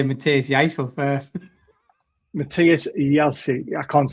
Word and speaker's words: Jaissle: Matthias Jaissle. I can't say it. Jaissle. Is that how you pronounce it?